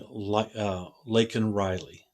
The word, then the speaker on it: Laken: She got under his skin because not only did he mispronounce her name, he called her Lincoln Riley.